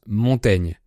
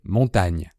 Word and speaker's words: Montaigne: le seigneur de Montaigne aujourd'hui on prononce Montaigne mais à l'époque on prononçait montagne donc le son gne